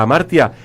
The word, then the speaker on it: Hamartia: Recuerden, Revista Amartya se escribe con H.